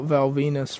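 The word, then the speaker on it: Val Venis: got done talking about Val Venus rhymes with my penis, and he was having shower sex rather with another guy's sister.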